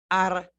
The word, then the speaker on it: Argentina: And if you notice, I said Argentina. Remember this pronunciation we went over? Argentina.